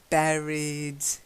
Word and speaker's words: buried: that's it lovely and then buried buried it buried like a berry raspberry strawberry strawberry and